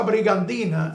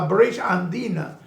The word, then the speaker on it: British Andina: Y para eso, ustedes siempre escuchan la famosa brigandina, sí, como lo decía Trujillo, y era la compañía inglesa, la British Andina, pero Trujillo la pronunciaba a su manera y la gente, nada, se lo entendían.